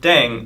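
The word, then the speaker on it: 땡: The pronunciation of "daeng" is similar to "thang", which is a slang of thing in English.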